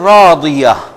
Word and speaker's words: رَاضِيَةٍ: ایک تو یہاں پر, اور راضیہ ہم راضیہ کہتے ہیں. یہ بھی اس کو بھی ضاد کو بھی انڈرلائن کریں گے آپ, اور عین کو